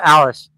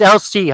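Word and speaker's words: Elsie: I when I first met her, I kept calling her Alice and it up. Or else. Am I still saying it wrong right now? Am I still saying your name wrong right now? Is it LC? Am I I'm a dumbass. It's LC.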